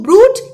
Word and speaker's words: Brute: Et tu, Brute, even you, Brutus. Brute in the Latin vocative case has two syllables.